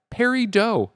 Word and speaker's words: Peridot: as we keep saying it's pronounced Perry doe because it's a French word baguettes and all that